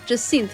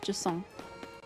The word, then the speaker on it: Jacinth: Jacinth, by the way. That is how you actually pronounce Jacinth's name, is Jacinth. Similar to Hyacinth.